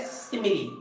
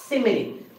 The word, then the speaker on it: simile: सिमिली क्या है यह सिमिलर which will not pronounce it एक सिमीले और ऐलान ऐसा इसको नहीं पढ़ते हैं viennause इट हज सिमीले इससे हम लोग क्या पढ़ते हैं सिमिली पढ़ते हैं राइट है क्या सेमी